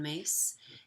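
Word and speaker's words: Myss: is a book by Carolyn mace if you've not heard it her last name is spelled my SS and she wrote a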